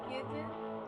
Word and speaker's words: Idun: It's Yidden, like you're. Oh, it's Yidden. Like, it's like a Y.